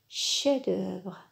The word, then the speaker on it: chef-d'œuvre: chef-d'oeuvre très bien regardez le F de chef-d'oeuvre ne se prononce pas on dit chef-d'oeuvre chef-d'œuvre un rue de